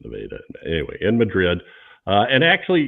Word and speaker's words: Nevada: It's not Nevada, it's Nevada.